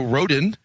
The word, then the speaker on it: Rodin: can check out is it is a road in a row dan like the sculptor in Mexico it's roedean every country accented syllable of it smells differently so i just say Rodin Rodin Marco rodent